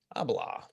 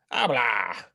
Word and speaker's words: Abelard: How do you pronounce it? Abelard. Abelard. Yeah, man, it's getting to Christmas and I've got too much fucking scotch.